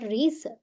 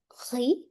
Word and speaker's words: riz: Le riz, last letter is silent. It's not riz, riz.